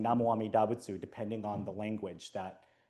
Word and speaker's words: Namo Amida Butsu: So Namo Amida Butsu, right, is the standard way of saying this in Japanese's pronunciation of Chinese.